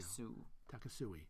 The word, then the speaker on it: Takasui: Takasui. Like a suite.